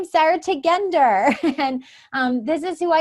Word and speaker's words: Tugender: lot and I say my name is Sarah tech ender and this is who I am and then